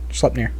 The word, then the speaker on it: Sleipnir: Wasn't one of them the eight-legged horse that I cannot pronounce the name of? Sleipnir.